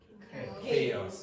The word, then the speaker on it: chaos: How do you pronounce that again? Chaos.